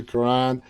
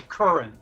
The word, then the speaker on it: Curran: to thank Karan Madison am I pronouncing your last name correctly it's actually Curran current Curran